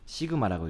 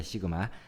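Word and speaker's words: σ: 이렇게 쓰고 돼지꼬리처럼 쓰고 읽을 때는 시그마라고 읽습니다. 시그마.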